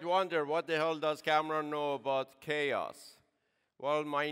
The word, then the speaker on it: Kamran: Now, you might wonder, what the hell does Kamran know about chaos? Well, my name in Japanese is pronounced Kamran, not Kamran or Kamran, Kamran.